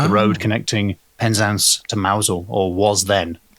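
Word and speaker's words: Mousehole: for any of them I'm pronouncing it mausole because it's written mouse hole it is mouse it does look like a mouse hole but surely that can't be right if you're driving on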